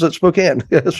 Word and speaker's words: Spokane: It's because I have a friend there and he pronounces it Spokane.